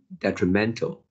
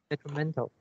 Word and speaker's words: detrimental: the first pronunciation should be de and you pronounced as determined should be that detrimental detrimental yeah and also the second line the third